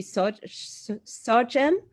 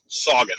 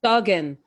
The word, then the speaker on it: Sargent: Sargent. Did I pronounce it correct? Soggin. Very Soggin. Sogan, Sogan.